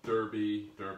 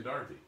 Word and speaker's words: Derby: Okay, week 19, Kentucky, and we are making the Kentucky Derby, as the Americans say, chocolate pie. Derby is in what? What are we saying? Richly Darby.